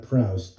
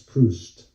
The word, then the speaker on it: Proust: I knew it was not Proust. I said Proust. It's Proust, the writer.